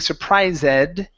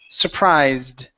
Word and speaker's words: surprised: the word surprised okay this is an ed ending as well instead of pronouncing this e saying surprised we only pronounce a d so it's surprised okay surprised okay so